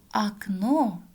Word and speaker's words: окно: А в слове «окно» ударение падает на второй слог. «О» у нас безударное гласное, поэтому произносим как «а».